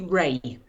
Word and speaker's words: Rea: well there we go so he pronounces it ria i pronounce it ray ray okay my apologies hopefully